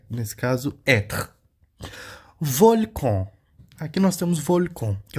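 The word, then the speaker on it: volcan: de e nesse caso volcon Aqui nós temos volcon que é o vulcão a letra N em francês nós vamos pronunciar on tá volcon volcon tá onvi que é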